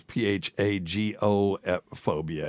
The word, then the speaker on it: phagophobia: Well, then this is, okay, you got to be careful how you pronounce this. It's PHAGO phobia. It's phagophobia, not what you were thinking, Dr.